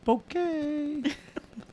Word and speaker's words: Bucket: Her name is it's a Bucket. It's spelled Bucket, and she says it's pronounced bouquet.